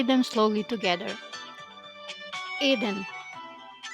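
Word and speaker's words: еден: Here are all 10 numbers with the pronunciation. Eden, which means 1.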